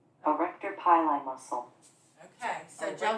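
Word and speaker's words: arrector pili: called, and I'm going to let the computer pronounce this so I make sure I do it correctly. Erector pili muscle.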